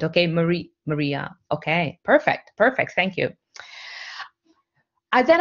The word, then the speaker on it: Marija: The J is silent. Okay, Maria.